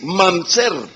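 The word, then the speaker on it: ממזר: El hebreo, cuando habla de bastardo, lo pronuncia así, mamzer. Mamzer es la palabra 4464 del Antiguo Testamento y significa hijo ilegítimo,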